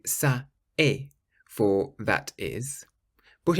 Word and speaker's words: ça: Finally, if you see a C with the cedilla, or the little squiggle underneath, then you pronounce it like an S. For example, ça.